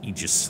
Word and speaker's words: Aegis: have an Aegis so why do I keep saying Aegis it's Aegis that's the correct pronunciation we get the black